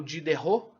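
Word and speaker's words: Diderot: o dede role ou de terror é assim que pronuncia na verdade como ser de terror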